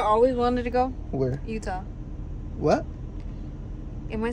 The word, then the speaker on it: Utah: Utah no it's not it's not said like you don't say udah duh I know it's Utah Utah yeah okay